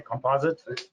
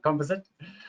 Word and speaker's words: composite: lot of other composite, or Americans say composite. I'm South African, composite.